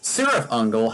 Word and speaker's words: Cirith Ungol: don't know, again, it's because Cirith Ungol, not Cirith Ungol, that's how you pronounce it in the Tolkien universe. Cirith Ungol has killer album covers,